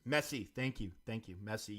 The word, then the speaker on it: Messi: yeah yeah he uh melee right is that his name am I saying it right yeah that was Messi thank you thank you